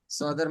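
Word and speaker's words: ص: না মোটা উচ্চারণিয়াফিয়া নাফিয়া সদের মাখরাজ হচ্ছে জিহ্বার আঘাত সামনে নিচে দুই দাতের আগার দিকে লাগাইয়া এটা এখানে সদ সদ সিন ঝা তিনটা মাখরাজ জায়গাতে কিন্তু সদ একটু মোটা হবে এই মোটার কারণে উচ্চারণটা একটু অন্যরকম শোনা যাবে সিনের মাখরাজ এক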